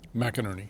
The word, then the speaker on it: McInerney: Uh Did I pronounce that name? McInerney.